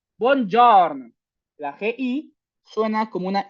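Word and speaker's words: buongiorno: La g y la i no suena. No es bonorn. Bon jorn.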